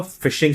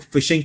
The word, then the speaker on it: phishing: जब इसके स्पेलिंग के अंदर पीएच आता है तो उसको फिशिंग क्यों कह रहे हैं?